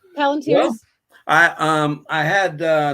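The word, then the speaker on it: palantír: Palantars? Palantirs. Well, Palantirs?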